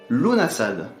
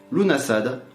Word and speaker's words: Lughnasadh: Lughnasadh. Il ne faut pas prononcer le G. Un nom bien compliqué, c'est sûrement pour cela qu'on l'appelle aussi Lammas. Lughnasadh, en rapport avec le